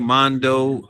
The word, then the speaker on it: Mondo: have DJ man Mandu how do you say your name because I always say DJ Mondo DJ Mondo ent ent is for entertainment